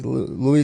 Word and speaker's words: Louis: on soprano Godwin Louis is how you say Louis let is last name yet and Cahill Kwame